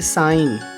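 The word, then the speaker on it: sign: में GN आने पर जी का उच्चारण नहीं होता जैसे साइन फॉरेन सॉवरेन ऐसे शब्दों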